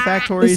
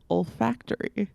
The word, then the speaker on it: olfactory: like i have to taste i mean old factory senses are uh the ones that are linked